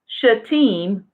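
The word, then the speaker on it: Shittim: says they went from they were sent from should team which is actually spelled SH ITT I am but it's pronounced team they went directly from that place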